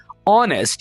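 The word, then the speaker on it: honest: ऑनेस्ट कहते हैं दोस्तों यहां पर आपने ह को साइलेंट रखना है ऑनेस्ट इसको ऑनेस्ट नहीं बोलना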